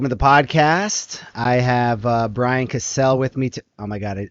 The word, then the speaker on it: Casel: I have Brian Casel with me. Oh my God, I literally just did it again. Brian Casel. That's cool. Just correct. It's been like hard coded into my brain, the wrong pronunciation for like way too long.